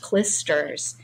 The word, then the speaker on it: clysters: And he's saying, well, all that clisters or clysters, I think it's pronounced clisters, is not gold.